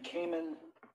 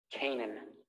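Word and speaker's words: Canaan: Are you saying Kamen? Kanan. Kanan, can you have the witness spell that name, please?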